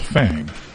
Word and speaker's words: Fang: I It's spelled fang, but I believe it's pronounced fong. I think you're right. And if it's spelled fang, then it's pronounced fang. I think maybe it's too